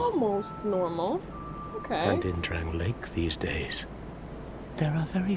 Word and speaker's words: Drangleic: And in Drang Lake these days, there are very few places like that. Drangleic. That's how you say it.